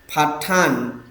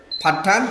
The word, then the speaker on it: Paṭṭhāna: থেকে ধর্মসঙ্গিনী থেকে আজকে আম আলোচনা করতে যাচ্ছি ফাটান থেকে ফাটান শব্দের অর্থ কি দেখেন উপাসকগণ ফাঠান ফাঠা ফালিতে রোমান অক্ষরে যখন ফালিতে লেখে ফাঠানা